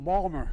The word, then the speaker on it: Baltimore: Say to my dad, Dad, they're mispronouncing Balmer.